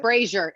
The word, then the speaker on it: Brazier: Brazier. It's like Brazier with a B.